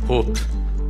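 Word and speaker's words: Höfn: si chiamava Hofn e che in islandese si pronuncia Hop, come un singhiozzo.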